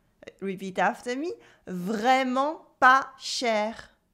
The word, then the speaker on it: vraiment pas cher: With luck, you will find that what you wanted to buy is vraiment pas cher. Really not expensive at all. Vraiment pas cher. Repeat after me. Vraiment pas cher. Yes, the T is silent.